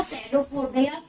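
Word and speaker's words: pseudopodia: Their prey by the putting out सैडोफोडिया, क्या बोलेगी इसको, सैडोफोडिया। क्या है, साइलेंट इसके अंदर।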